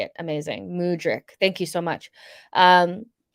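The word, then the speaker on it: Mudryk: stance on it um crispy rice says mudric so that's how you say it amazing mudric thank you so much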